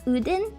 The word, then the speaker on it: Odin: you write them yeah odin i think it's pronounced udin in actual scandinavia when fears are claimed